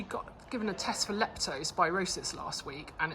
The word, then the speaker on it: leptospirosis: but the tests came back last week for leptospirosis that's how you say it which is rat